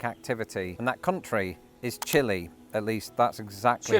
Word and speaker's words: Chile: When it turns out that Chile is closer to the pronunciation that you would hear.